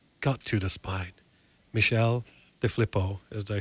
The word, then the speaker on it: DeFilippo: Michelle DeFilippo, did I say it right?